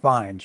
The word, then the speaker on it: Fiennes: No, it's probably Ralph Fiennes, yeah. You know how it's spelled, Fiennes.